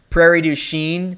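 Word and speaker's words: Prairie du Chien: Prairie Duchene.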